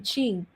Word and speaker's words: Qing: be q-i-n-g and and that makes the sound of cha q is is a pinging pinging is a way of helping you to pronounce chinese uh mandarin q is like that q and g become qing oh very cool if